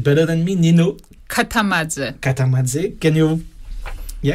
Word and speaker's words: Katamadze: So you will pronounce it better than me, Nino. Katamadze. Katamadze.